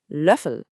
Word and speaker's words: Löffel: This one has one of those famous umlauts, the Ö. So to make that sound, shape your mouth like you're about to say oo, but instead try to say the sound E. It's a sound that's pretty uniquely German.